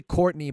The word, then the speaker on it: Courtenay: your own website coordinate Taylor well let's say Courtney but I'm gonna pronounce it like that and it's Co you